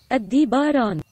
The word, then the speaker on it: Aldebaran: direito, então eu vou novamente deixar o Google pronunciar para vocês. É assim que fala. Aldebaran.